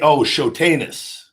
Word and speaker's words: Shotanus: Shotanus. I didn't see that. Shotanus. That is, I don't know. Shotanus. Super chat. Thank you, Mitchell. It's Shotanus. It's all right. People mispronounce it all.